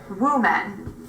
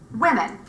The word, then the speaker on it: women: word should be pronounced women see ya Wednesday oh so listener relax your lips be sure that they are not overly rounded and number two make the vowel short play while you're so